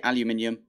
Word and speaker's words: aluminium: And because of that, I've got so many comments about the aluminium, aluminum sort of thing. Personally, I actually would prefer to say aluminum. It's not how I was brought up. I think aluminum actually rolls off the tongue a lot nicer.